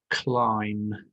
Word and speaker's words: climb: Could you find the word climb? Climb. Pause the video if you need to. Here's the word climb over on the left-hand side here. Climb with a silent B at the end.